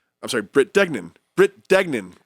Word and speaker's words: Dignan: Brit Dignan. It's so easy to pronounce.